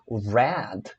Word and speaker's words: read: A mesma coisa com read, quando você estiver lendo read numa frase e for passado, você vai ouvir as pessoas falando read, que é o mesmo som da cor vermelha, né?